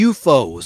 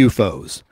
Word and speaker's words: U-Foes: titled waiting for the UFOs and for the listener that's spelled like letter U like umbrella Dash f-o-e-s like foe is an enemy U Dash foes waiting for the UFOs um and Sal busima